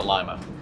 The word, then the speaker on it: Lima: And Mark, Lima WMS, Lima, they pronounce it Lima.